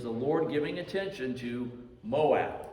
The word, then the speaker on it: Moab: Lord giving attention to Moab, or Moab, depending on on how you want to pronounce it.